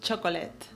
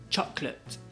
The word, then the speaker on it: chocolate: Normalmente decimos chocolate. Sí, pero se pronuncia chocolate. Chocolate. Entonces solo tiene dos sílabas.